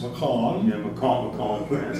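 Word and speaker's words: Mâcon: Macon in France. I just got to say it properly.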